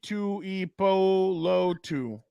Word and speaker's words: Tuipulotu: But okay, let's move on now to Tuli Tuipulotu. Sorry if we butchered your name, guy.